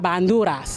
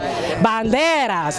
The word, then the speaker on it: banderas: Hispanic countries that we represent here with la banduras. Is that how you say it? I told you. Banderas.